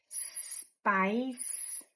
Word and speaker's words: Spice: Repara como Spice, que quer dizer pimenta, né? Apimentado, começa e termina com som de s, não de i, ok? Spice, spies.